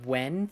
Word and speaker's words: Nguyen: It's pronounced more like Wen.